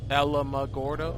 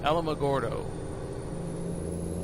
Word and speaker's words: Alamogordo: Alma Alma Gordo Gordo I think it's called Alamogordo or Alamogordo as opposed to Bordeaux I don't know something